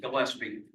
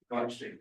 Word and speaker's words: Gillespie: This would allow for the owner to subdivide lot 2 of the, excuse my pronunciation, Gillespie Subdivision into 2 building lots. Gillespie. Gillespie, perfect, thank you.